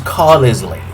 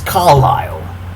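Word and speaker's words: Carlisle: I thought that was pronounced Carisley. It's Carlilele but it looks like Carlesley. So you you assume it's pronounced Carisley.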